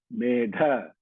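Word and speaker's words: मेधा: Okay, there are two das there. Meda, that is the third da pronounced from the mouth. Medha, that is the fourth da coming from the pronounced from the stomach.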